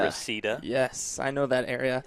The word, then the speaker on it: Reseda: Reseda. Reseda.